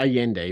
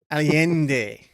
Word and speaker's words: Allende: Did I pronounce that right? That'll work. Yeah, Allende, but that's fine. Allende.